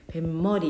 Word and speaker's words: 뱃머리: 같은게 발음이 어떻게 돼 뱃머리 이렇게 되잖아요 그렇지 요게 사입수 현상인데 배하고 머리하고 합쳐지면서 발음이 뱃머리가 나는 거야 그래서 여기 시온수를 이렇게